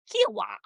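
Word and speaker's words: Kiawah: You need to say it like Kiwa Kiwa.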